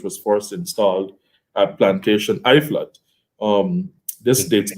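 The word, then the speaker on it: Uitvlugt: first installed at plantation I flood um this dudes not know that that not pronunciation knows most rum nerds have no idea how to say it okay so it's I flocked yeah I thought yes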